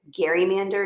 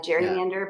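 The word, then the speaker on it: gerrymander: his name Gary so it's a Gary Mander not a Jerry Mander but whatever oh um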